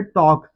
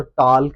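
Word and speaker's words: talk: तो के से पहले एल आ रहा है। एल को साइलेंट करेंगे तो टॉक है और एल को साथ पढ़ेंगे तो टॉल्क है। टॉल्क टॉल्क तो दोस्तों कोई वर्ड नहीं होता। इसलिए ये टॉक है और टॉक में हम एल को साइलेंट रखेंगे।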